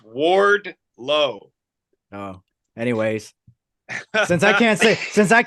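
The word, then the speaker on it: Wardlow: MGF and ORD isn't that what is it warlord what did I say warlord yeah you said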